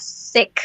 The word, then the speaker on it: Sikh: spelled as Sikh.